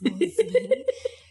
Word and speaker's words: Mosman: Pronounced with a Z instead of an S. Mosman.